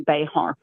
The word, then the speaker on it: Bexar: So, tell everyone about Bear County. It's it's spelled how? B X A R. So, if you were Spanish, it would be Bayhart.